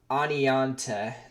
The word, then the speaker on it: Oneonta: through awning on well through one onto through Arnie you know Ani Oneonta that's how you say it I there's no